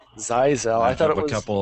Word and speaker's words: ZyXEL: okay so the big change recently was the size l I finally found out it's pronounced firewall size l size l I thought of a couple of those switchers